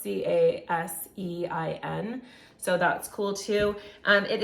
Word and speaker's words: casein: I think believe that's how that's pronounced, Casein.